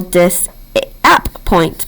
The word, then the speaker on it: disappoint: Without this silent p here, what would our word say? If you said dis-a-point, you are correct.